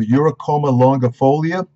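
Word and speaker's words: Eurycoma longifolia: It has a botanical name of Uricoma longifolia. Now, you pronunciation specialists who always criticize me, you can look it up.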